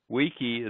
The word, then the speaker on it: wiki: there is called a Wiki Wiki bus and wiki wiki means quick in Native hawan how do you pronounce it well Cunningham says that wikii is probably the proper pronunciation but Wiki May